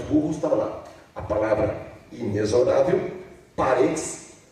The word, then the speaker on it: inexorável: Ele pronunciou inexorável. E a pronúncia certa é inexorável.